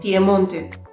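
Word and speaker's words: Piemonte: it is called piedmont in italian it's pier pmonte they eat raw beef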